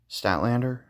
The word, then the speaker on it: Statlander: Chris Statlander, that's how you say her name.